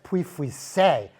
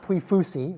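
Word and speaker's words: Pouilly-Fuissé: Oh, you should try the Puy-Fuissé, not Puy-Fussy, like a lot of people were saying it back then.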